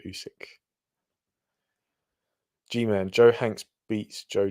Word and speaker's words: Usyk: is just it's legendary oxlander oxlander uzik instead of alex alexander usyk g-man joe hanks beats